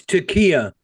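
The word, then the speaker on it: taqiyya: it's Takia. Takia. Yeah. That's a Asked me that's to a spell it, but that's the Takia.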